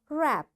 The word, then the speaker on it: wrap: Wrist, wrestling, wrong, ran, wrinkle, rack, wrap, wrench. You see, in all these words, because W is followed, after W there is R, so we don't pronounce this W.